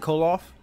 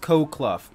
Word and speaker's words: Koloff: like in my head it's cold off but let me know how you pronounce it if i pronounce it correctly i will be happy because i had no semblance of how to pronounce the name i just assume it's kolov i thought it was like cloak ball it's pronounced co clough hmm damn coke that's